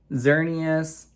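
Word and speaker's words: Xerneas: Ooh, Xernius. That's how you say it. I definitely mispronounced that in a past episode, but a full art Xernius.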